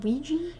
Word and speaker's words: Ouija: A Ouija board.